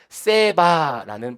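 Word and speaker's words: שבע: 일곱이라고 하는 숫자와 맹세라고 하는 숫자가 아 맹세라고 하는 단어가 히브리어로 보면은 같은 발음입니다. 둘 다 세바라는 발음이죠. 일곱도 세바고 맹세도 세바입니다.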